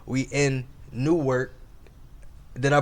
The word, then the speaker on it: Newark: We in NEWARK. Did I pronounce it wrong? Yeah, not New York. Newark.